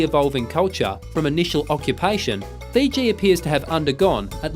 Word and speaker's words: Fiji: and much in demand they called their home Vitti but the Tongans called it the sea it is by this foreign pronunciation Fiji first promulgated by Cooke that these islands are now known after the Explorers other